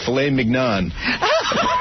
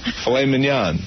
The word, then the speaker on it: filet mignon: around the world, or how about tenderly aged filet mignon? Dick. You're an asshole. You don't say... How do you say it? Mignon? Filet mignon.